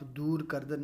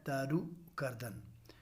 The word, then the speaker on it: درو کردن: اس کو عزیز طلبہ آپ دور کردن نہیں پڑھیں گے، دور کردن کے معنی بالکل غلط ہو جائیں گے۔ یہ ہے درو کردن، جیسا کہ اضافت لگا کے آپ کو درست تلفظ کرنے کے لیے بتایا گیا ہے۔ دال کے اوپر زبر ہے اور را کے اوپر پیش ہے، یعنی درو کردن آپ نے پڑھنا ہے اس کو۔ درو کردن کے معنی